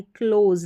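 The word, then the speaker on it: close: क्लो बन गया और एसई इस तरीके से लास्ट में आ जाएगा ज करके प्रोनाउंस करेंगे यानी एस का उच्चारण ज है और लास्ट में अगर ई आता है तो वह साइलेंट रहता है क्लोज ना कि क्लोज क्लोज का मतलब बंद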